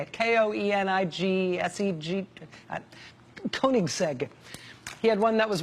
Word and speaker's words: Koenigsegg: some swedish thing called the koenigsegg i think that's how you say it k-o-e-n-i-g-s-e-g koenigsegg he had one that